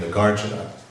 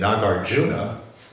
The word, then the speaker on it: Nagarjuna: so that for instance this is the way that it should be pronounced like uh you know the name the gardener The Gardener that's the set the actual Sanskrit uh pronunciation and then some two short syllables the guardian now I hear somebody saying nagarjuna and that sounds terrible to me but I can understand that they're saying nagarjuna but in my mind